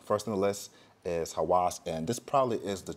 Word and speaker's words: Havas: Some people pronounce this Havas. I don't see a V in this. I see a W, so it's Havas.